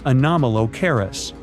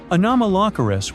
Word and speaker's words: Anomalocaris: The name is a bit tricky to pronounce, so I'm not going to. Okay, okay, it's Anomalocaris, but it just literally means unusual shrimp.